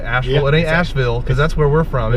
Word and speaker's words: Asheville: Tony's gonna give us a little tour of Asheville in his little car here.